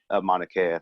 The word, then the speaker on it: Mauna Kea: When you bring up issues of a Standing Rock or a Mauna Kea, sorry if I pronounced that name wrong, or Mauna definitely Kea. Mauna Kea, thank you.